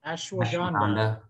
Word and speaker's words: Ashwagandha: I can't even pronounce it. A-S-H-W-A. Ashwagandha.